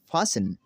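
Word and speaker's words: fasten: तो नाज़रीन हमारा रूल नंबर 13 है, वो ये है, अगर किसी लफ्ज़ के आखिर में TEN हो तो T हमेशा साइलेंट रहेगा।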